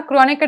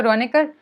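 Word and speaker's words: Kronecker: इन्होंने कहा क्रॉनिकर डेल्टा जैसा है, क्रॉनिकर में के साइलेंट होता है तो रॉनिकर, हाँ बिल्कुल ऐसा ही,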